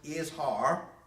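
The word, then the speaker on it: Izhar: now i keep talking about these men who joined korra the others they were is har i s or i z h a r but is pronounced is har uh let me turn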